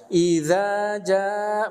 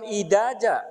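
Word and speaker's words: إذا: Idza bukan idaja, bukan idaja, bukan idaja, bukan. Tapi saya bacanya idza jaa nasrullahi wal fath. Ternyata disalahkan, dikoreksi. Naon ternyata? Itu makhraj huruf za-nya salah.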